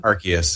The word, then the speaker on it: Arceus: Yeah, some I of still the don't know how to pronounce that. legendaries. Is it Arceus or Arceus or what? Arceus.